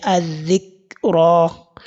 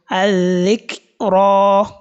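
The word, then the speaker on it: الذكرى: So we don't say adhikra. If I say adhikra, you did not hear the sound of the calf. So I omitted it completely, which is very wrong. May Allah guide us. So, and the last letter has been elongated, which is letter Ra. I said al-dhikra.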